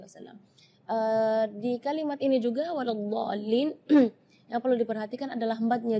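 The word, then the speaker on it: وَلَا الضَّالِّينَ: Di kalimat ini juga waladhdallin yang perlu diperhatikan adalah madnya juga. Mad di situ kita harus panjang membacanya 6 harakat karena di situ hukumnya mad lazim kalimi mutsaqqal. Jadi membacanya waladhdall 6 harakat.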